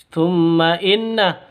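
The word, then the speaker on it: ثُمَّ إِنَّ: Thumma inna, mim tasydid gunnah musyaddadah. Mim tasydid cara bacanya dengung, gunnah musyaddadah. Karena kenapa? Karena non mim tasydidnya berdiri sendiri, makanya disebut dengan gunnah musyaddadah, dengung dua ketukan.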